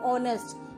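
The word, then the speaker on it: honest: लेकिन एक एच ओ एन एस टी, हॉनेस्ट, जिसको हॉनेस्ट कहते हैं, उसमें एच साइलेंट होता है, इसलिए इसकी आवाज आती है ऑनेस्ट, इसलिए हम उसके आगे एन लगाते हैं।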